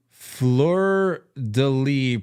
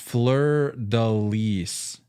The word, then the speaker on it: fleur-de-lis: Fleur-de-lis, pronounced... It's French, right? Pronounced fleur-de-lis. Or fleur-de-lis. I thought you were saying fleur-de-lis. Fleur-de-lis. Yeah, that's it.